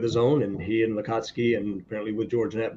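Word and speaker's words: Lacatski: Bigelow, and then James Latatsky wrote. Did they both, was it Latatsky? Lakatsky, L-A-C-A-T. I'm so good with pronouncing names.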